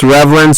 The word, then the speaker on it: Reavlin: to find me, but because my name is Reavlin, so it looks like Reavlin, but it's pronounced Reavlin, so I'm Reavlin, which looks like Reavlin, but then you can find me.